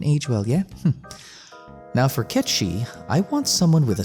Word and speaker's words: Cait Sith: looks for is one Cait Sith. Yes, it's pronounced that way. I know he says Cait Sith in Dirge of Cerberus, but I'm pretty sure they'll revert to Cait Sith for the remake.